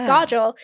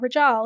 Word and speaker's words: Kajal: your name your name is Godel it's not regel he's going to talk